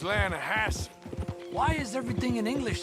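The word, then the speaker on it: Lannahechee: Yeah, but it's pronounced Lannahache.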